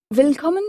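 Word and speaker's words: Willkommen: en disant vcomon bienvenue vcommen s'écrit W I 2 l k O 2 m e n Vcom en allemand le W se prononce en effet comme un V français vcommen bienvenue vcommen quant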